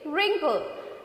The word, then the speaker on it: wrinkle: Okay, we don't pronounce this W.